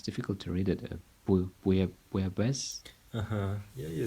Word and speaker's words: Bouillabaisse: Bouillabaisse. Yeah, you say it right. Bouillabaisse.